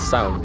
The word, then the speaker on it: Samhain: How is that pronounced? Sound. But it's clearly spelled Samhain. You don't pronounce half the letters as Siobhan, so.